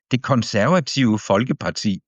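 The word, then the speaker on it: Konservative: The consortiva the conservati. Yeah, you have to swallow some of those letters. I It's easier for me to pronounce it the Norwegian way as opposed to the Danish way.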